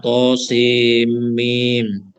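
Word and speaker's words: طسم: Tadi harusnya dibaca tosimim.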